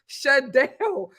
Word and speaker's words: Shadell: It's pronounced Shadell. Shadell. Shidell, Shidell. Shidell, Shidell, sorry for pronouncing your name wrong.